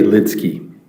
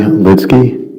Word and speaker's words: Lidsky: Harry Lidsky.